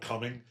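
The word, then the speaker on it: Cumming: I'm like, it's called coming. Like, yeah, but it's spelled C U M M I N G.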